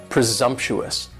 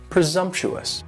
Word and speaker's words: presumptuous: next is presumptuous and presumptuous has four syllables and the stress is on that second syllable and the S almost sounds a little more like a Z presumptuous presumptuous and if somebody is